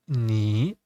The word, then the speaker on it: 你: As I said, we pronunciated 你 when it's separate word. 你 with a full third tone. But we also can read it as a half a third tone.